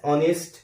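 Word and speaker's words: honest: এরপর হচ্ছে দ্য ম্যান is dash অনেস্ট person. তাহলে এখানে আবারও আমরা দেখতে পাচ্ছি এইচটা সাইলেন্ট থাকছে এবং অনেস্ট উচ্চারণ হচ্ছে, তো সে কারণে আমরা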